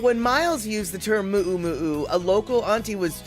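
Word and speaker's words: muʻumuʻu: So I don't know which one it is, but I am going to continue to call it mu'u mu'u because that's what I was told, and that's what I've been told again and again and again.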